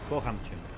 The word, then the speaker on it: kocham cię: How does I love you pronounce in your language? You mean Polish? Kocham cię.